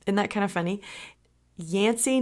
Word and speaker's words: Yancy: about how she became yansy it kind of rhymes with Nancy doesn't it well that's